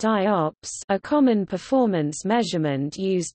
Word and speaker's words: IOPS: Input, output operations per second, pronounced IOPS, a common performance measurement used to benchmark computer storage devices like hard disk drives.